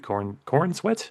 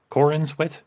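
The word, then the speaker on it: Corenswet: looked at by James Gunn and by David Cornsweet. Is that it? Cornswet.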